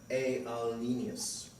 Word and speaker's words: alienus: It derived from the Middle French, which derived from Latin, which was spelled alienus and was pronounced alienus.